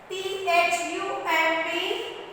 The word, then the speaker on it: thumb: T-H-U-M-B. Thumb. Thumb ಅಂದ್ರೆ thumb ಅನ್ನಂಗಿಲ್ಲ. B ತಗೊಳ್ಳಂಗಿಲ್ಲ pronunciation. We don't take B. Thumb. No. Thumb. What we say? Thumb. So the word ends with the letter M.